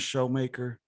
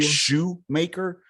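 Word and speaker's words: Shoemaker: was there uh a show maker by any chance around there a first sergeant show maker at least like sh it's not like a shoe maker but yeah but it's pronounced show maker ball headed white dude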